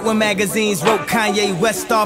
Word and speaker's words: Kanye: Now all I need is y'all to pronounce my name. It's Kanye, but some of my plastic still say Kane.